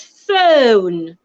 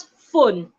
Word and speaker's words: phone: we use every day it's phone phone not fun phone my telephone telephone phone